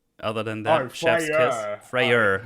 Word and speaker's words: Freyr: wrong other than that freyer not Freya freyr yeah you need to you need to be uh careful how you pronounce them no it's anger